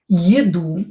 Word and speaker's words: еду: Еду. Е not stressed. Pronounce as и.